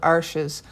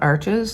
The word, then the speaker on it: Arches: paper so fun fact it's pronounced arch not arches and the only reason